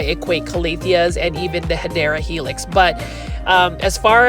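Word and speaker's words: Hedera: but just like um hedra helix or the correct way to say it is hadera helix or English ivy these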